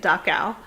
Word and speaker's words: Dachau: at the top there dachau and that's how you say it dacao it was the first